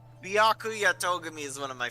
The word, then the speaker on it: Byakuya: It does have a lot of syllables. It's Byakuya.